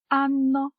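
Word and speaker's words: hanno: в різних мовах Отже ця літера не вимовляється вона неніма але грає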